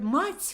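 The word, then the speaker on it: мать: Like, because you see, the Russian word mать, for example, ma and t with the soft sound, мягкий знак they call it, mать, If you change those syllables, you get tma, tma.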